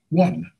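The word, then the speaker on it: won: what's around me w-o-n but how do you spell how do you pronounce w-o-n one well what's the first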